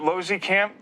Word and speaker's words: Losekamp: the owner of american heritage realtor uh aaron losey camp did i say it right this time yes